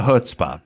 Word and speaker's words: chutzpah: I don't have the chutzpah, but I was in. First of all, you got to say it right. Chutzpah.